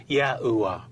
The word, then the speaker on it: Yahuwah: There are a few variations within this medieval time period, but the consensus suggests God's sacred name was pronounced as Yahuwah.